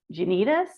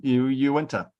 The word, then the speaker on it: Uinta: And then I'm going to say this wrong, so you're going to have to correct my pronunciation here. It's is it Unitas Wilderness? UINATS? Oh, Uinta.